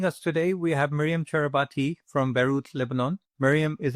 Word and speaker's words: Charabaty: Myriam, um did I pronounce your surname right? Is it Charabaty? Yes, it is. It is. It's Charabaty.